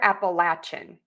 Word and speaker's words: Appalachia: And then Appalachian, I don't think I hear Appalachian.